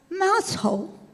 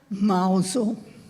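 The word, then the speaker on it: Mousehole: and soon the whole village was known as mouse hole but the locals pronounced it mle.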